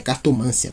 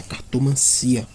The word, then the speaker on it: cartomancia: Cartomancia não recebe acento. Não é cartomância, tá? É cartomancia, tá?